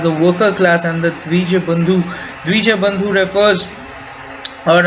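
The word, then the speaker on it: द्विजबन्धु: worker class, and the Dvija Bandhu. Dvija Bandhu refers or I would pronounce it in the Bengali way, that is the DJ Bandhu, or the Dijo Bandhu, refers to those who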